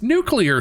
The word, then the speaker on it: nuclear: I was like, he said it wrong. We're going to find her. We're going to nuclear. Read the word. It's nuclear, sir.